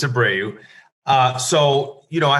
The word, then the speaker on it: Abreu: so abreu uh everybody asks me how do you say your last name it's a brave uh so you know